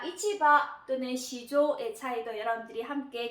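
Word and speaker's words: 市場: 그래서 여기서는 아까 어떤 추상적인 시장일 때는 시조하고 발음을 했으나 자 우리가 어떤 직접 가서 거래를 하는 그런 시장, 물건을 사고 팔고 하는 그런 시장일 때는 요거를 이치하고 발음을 하고요. 요 앞을 훈독으로 발음을 했기 때문에 요 뒤에도 훈독으로 발음을 합니다. 그래서 요거를 바라고 발음을 해서 이치바라고 합니다.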